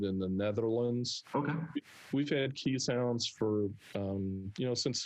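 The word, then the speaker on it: Keeshond: of time walking other key sounds spelled k-e-e-s h-u-n-d uh occasion is probably the more appropriate pronunciation they're dogs that originated in the netherlands we've had key sounds for um you know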